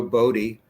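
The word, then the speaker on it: Boddie: It will be directed by Ro Body. I pronounced his name Bodie once, but it's Body, who is with the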